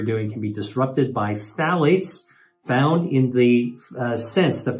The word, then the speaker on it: phthalates: It turns out that flavoring, these fragrances contain phthalates. That's spelled P-H-T-H-A-L-A-T-E-S, phthalates.